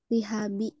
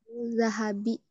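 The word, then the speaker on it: ذهب: min awanil zihabi Hah? wal fiddah. Apa-apa bacanya? Min Min awani. zahabi. Iya, zahab ya. Emas itu zahab.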